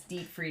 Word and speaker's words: Dietfried: Someone pointed out it's Dietfried is how you pronounce the brother's name.